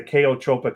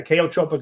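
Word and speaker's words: chaotropic: Abraham, we showed in some people just taking iodine created a kaotropic effect. It's spelled C H AO T R P O I C. A chotropic effect because we don't know the mechanism of it means to displace.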